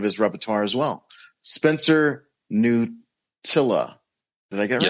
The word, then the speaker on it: Knuttila: Say how your name is pronounced. Knuttila.